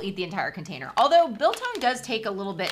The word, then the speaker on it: biltong: you go oh beef biltong just in time for camping built bilton do i say i never say it right i always say bit long but it's biltong it's built i actually